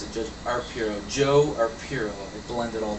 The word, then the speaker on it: Arpaio: No, I'm sorry, I mispronounced it. Judge Arpaio, Joe Arpaio.